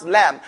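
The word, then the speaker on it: لام: what did i say the edge of the tongue not the tip here the edge and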